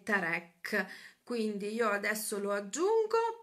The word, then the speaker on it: Tarek: Diciamo che lo chiamano tutti Tarek, però il suo nome, dal momento che è di origine israeliana per la mamma, la pronuncia corretta è Tarek.